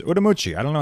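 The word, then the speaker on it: Ürümqi: a domestic flight to urui if you look on a map it's spelled Ur ru mqi uh for some reason in Mandarin it says ucci I don't know how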